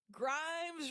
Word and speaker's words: Grimes: Grimes rhymes with dimes, on time right there.